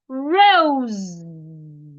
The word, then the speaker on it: rose: The S there sounds like letter Z, and it sounds rose. Rose.